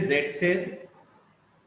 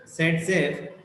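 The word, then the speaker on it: Zaitsev: Alexander ज़ेटसेफ also pronounced as सेटजेफ, who formulated a rule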